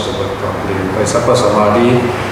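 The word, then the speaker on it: samādhi: For example, Samadhi, the second letter, you see that the A has always called a metron. Metron means a line above the vowel.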